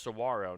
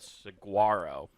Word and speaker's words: Saguaro: that's what it's supposed that's uh but it's pronounced saaro not Saguaro so we just didn't want to sound like